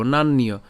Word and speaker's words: নান্য: জফলা থাকার কারণে আমরা কার মতো উচ্চারণ করব? ইয়র মতো উচ্চারণ করব, ঠিক আছে। তাহলে নান ইয় একসাথে উচ্চারণ করব, নান্যীয়।